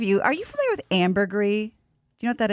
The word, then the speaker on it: ambergris: i thought it's called amber grease well it has an s but i think it's pronounced ambergris that was like french or something yeah so like pinot gris i saw a master